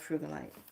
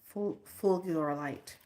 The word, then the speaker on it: fulgurite: Okay, now I'm going to tell you the story about frugalite. Okay. Fulgurite. I want to say it right.